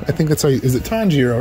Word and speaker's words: Tanjiro: dark tom giro i think that's is it tanjiro right is that how you say it yeah